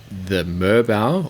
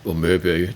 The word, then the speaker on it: Merbau: Apparently, the Merbau or Merbu, depending where you're on the country, how you pronounce it, apparently it's not incredibly responsibly sourced.